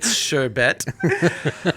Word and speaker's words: sherbet: pronounce this way yeah sure bet there is no R I don't know where the r came from is it actually sure bet it is sherbet oh no sure bit